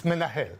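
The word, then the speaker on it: מנהל: hebrew manager yeah okay it's menahil okay in hebrew so for instance for that matter instead of being embarrassed but not being able to pronounce menehal in hebrew we help our students to remember it how for instance if they associate that men nahil a man from hell okay so the easy remember that and they're not afraid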